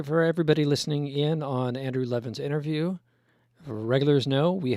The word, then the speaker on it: Andrew Levin: I want to make sure I'm pronouncing your name right. Andrew Levin?